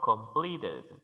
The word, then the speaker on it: completed: casos Como por ejemplo completed el verbo termina en una t quiere decir que la e puede pronunciarse completed no todos los verbos